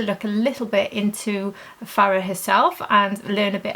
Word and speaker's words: Fara: heard different pronunciations, but he says it is Fara with a H on the end, Homidi.